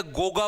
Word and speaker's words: गोगा: कई जगह गोगा बोलते हैं। गोगा पीर कई जगह इसको गुगा बोलते हैं। हर जगह अलग-अलग प्रोनाउंसिएशन है भाई।